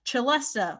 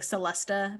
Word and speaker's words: celesta: out phonetically yeah well because a lot of people think it's like celesta but it's that's what i